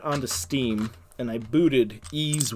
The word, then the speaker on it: Ys: Another game series that I really would like to stream as a single player experience is the Ys series, and that's YS.